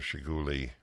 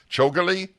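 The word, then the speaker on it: Chougule: unions which in itself deserves time with Mr shiguli so Akash welcome to the show thank you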